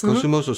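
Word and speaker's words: Kosumosu: Hopefully I can pronounce this correctly. Kusumosu. Kusumosu. Yes. Kusumosu.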